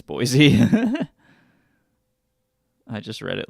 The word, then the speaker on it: Boise: It's Boise. I just read it like that. No, you're absolutely right. It's how you pronounce it.